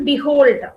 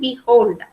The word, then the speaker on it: behold: This is how we have to pronounce it, behold. So behold. So we have 2 syllables. And this syllable, one is unstressed and the other one is stressed.